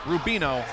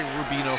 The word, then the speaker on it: Rubiano: single leg attempt and rubino rubiano you got me messed up on that name he is just rubino i'm sorry i'm sorry rubino family i've been saying his name one whole time wow we might have